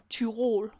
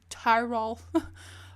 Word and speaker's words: Tirol: thought I'd go to Tirol, as we say in Danish. I think you pronounce it Tirol or something in English. It's not like the Tyrells from Game of Thrones.